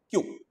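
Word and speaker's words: queue: is being used regularly this is a very funny word where the spelling is five alphabets whereas the pronunciation is only one alphabet q so in this q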